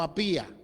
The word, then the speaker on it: Apia: la amada hermana apia lo leí a apia porque no dice acento entonces se pronuncia a piano apía y a la hermana